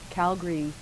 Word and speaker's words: Calgary: alberta from both no i just like how calga calgary calgary is pronounced differently than how it's spelled and edmonton is pronounced different it's like we can't put consonants in there or something when you're from alberta i